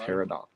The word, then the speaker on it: peridot: Peridot. But normally it's pronounced peridot.